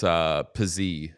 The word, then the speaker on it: Pysyk: Pysyk? Is that how you pronounce his name? Yeah. Yeah, right? It's Pizzy, actually.